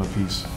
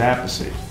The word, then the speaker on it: Appice: stuff and that stuff, he changed his name because Rod called him Appice. So he started going Appice, and then ever since then everybody's going, well, how do you say the name? So my father said Appice, and that's what the family says.